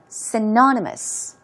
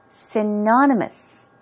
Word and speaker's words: synonymous: which means the same as so synonymous let's pronounce this word two times together stress goes right there synonymous synonymous okay we were talking about how Christmas and